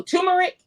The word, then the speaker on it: turmeric: you said it's teric ter how do you pronounce that you just said it oh turmeric turmeric that's it turmeric so she has zinc